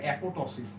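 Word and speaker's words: apoptosis: যদিও এটার উচ্চারণ অ্যাপোপ্টোসিসের মতো, কিন্তু উচ্চারণ করতে গেলে ফনেটিক্যালি আমরা বলবো অ্যাপোটোসিস, এই পিটা সাইলেন্ট থাকে, ঠিক আছে?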